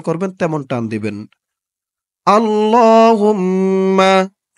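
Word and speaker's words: اللهم: করবেন তেমন টান দিবেন আল্লাহুম্মা আল্লাহ আল্লাহ এখানে কিন্তু টান হবে খারা জবর হবে ছাপায় হয়তো ভুল হয়েছে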